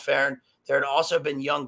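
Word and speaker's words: fearn: The Irish is fern, which the F is pronounced as V, and that the alder was a sacred tree.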